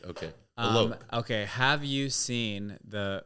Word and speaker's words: Alok: Alok.